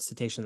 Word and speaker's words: cetacean: So so cetacean, that word I got caught up in in the intro here, but cetacean, that's how you say it.